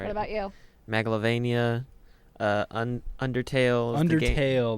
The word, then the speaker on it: Megalovania: Isn't it pronounced like Megalovania? I don't know. Megalovania is correct.